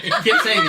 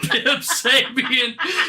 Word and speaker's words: Kip Sabian: Kip Sabian. It wasn't Pip Sabian, because I've listened to Jim Cornette call him that for more than I've heard Excalibur say his name.